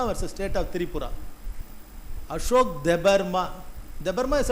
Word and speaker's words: Debarma: Ashok தெபர்மா. தெபர்மா இஸ் அ try north ஈஸ்டில். DEBARMA தெபர்மா. Ashok தெபர்மா alias அச்சக். Ashok அப்படி pronounce பண்ணுறாங்க.